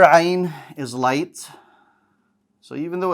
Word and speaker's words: ع: If you hold the air at the location of the Ha, you will get an Ayn sound. So instead of saying Ah, Ayn, Ayn.